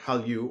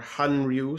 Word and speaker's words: hallyu: the korean wave or hallyu or hanryu some people pronounce it that way i chuckle at this